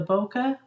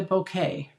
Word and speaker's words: bokeh: and this is the depending on how you want to say it the bokeh or the bouquet DSP dictionary has both pronunciations oh I'm glad you